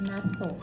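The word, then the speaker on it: 納豆: Ang bigkas nga is nato.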